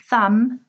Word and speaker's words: thumb: that W is silent thumb B is silent this is your thumb